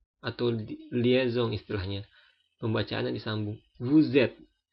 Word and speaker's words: vous êtes: Vous êtes. Kenapa jadi Z? Perhatikan S diapit dua huruf vokal, maka dia pengucapannya Z.